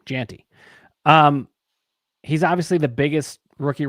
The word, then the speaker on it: Jeanty: Jeanty.